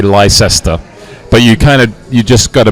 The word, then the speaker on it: Leicester: Hey, tell us how to pronounce that wondrous team of the year. Leicester.